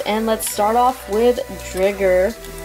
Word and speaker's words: Driger: I pronounce it Drigger because the English anime pronounced it as Drigger, but the Japanese pronounced it as Driger, which technically, if you look at it, only 1 G, so it should be pronounced as Driger.